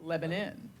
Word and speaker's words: Lebanon: And that is how you pronounce, it's spelled Lebanon, but it's pronounced Lebanon.